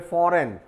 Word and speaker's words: foreign: इसी प्रकार से वेल नोन वर्ड है फॉरेन, FOREIGN, यहाँ भी जी साइलेंट होगा।